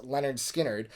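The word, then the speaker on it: Lynyrd Skynyrd: no exception this is leonard skinner's debut pronounced leonard skynyrd uh again this is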